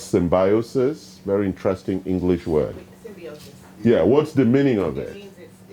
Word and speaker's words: symbiosis: Yes, and the right English pronunciation is symbiosis. Okay, I know Americans might call it symbiosis. The English pronunciation is symbiosis. Okay, check the dictionary.